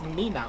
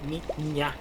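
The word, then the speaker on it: niña: inept at pronouncing Spanish, but there's an ñ there. You can't miss it. It's it's exactly the same when Americans go, oh look, it's Nina or Nino. No, it's ni ña, ño, ni ño.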